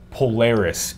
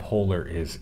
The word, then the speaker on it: Polaris: Polaris Insight. Yes, yes, okay. Not polar is insight, Polaris, right? Yeah, yes. We have different pronunciation. It's like the star, like on your shirt.